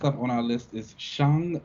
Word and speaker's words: Shang-Chi: name as well, because I've definitely been saying Shang for the longest time. They told us, hey, that is not how you say it. Okay, it is Shang-Chi, and I was like, you got it.